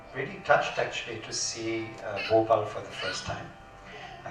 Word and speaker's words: Bhopal: I'm really touched actually to see Bhopal for the first time. I should say it properly, Bhopal.